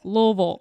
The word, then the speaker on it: Louisville: gracious you're so wrong its Louisville it hangs out deep in your throat with lots of syllables yeah so if you